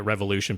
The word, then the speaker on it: Revolution: I'm perfectly fine just calling it revolution because that's how their own people say it.